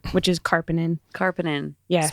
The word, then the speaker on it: Karpenin: If you just look do at it how it's spelled, but something about the INEN, everybody's like Carpapa.